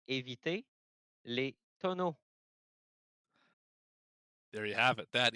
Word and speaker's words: éviter les tonneaux: And from one Canadian to another, why don't you help me out with how you pronounce this race name tonight? It's avoid the barrels in French, so it's éviter les tonneaux.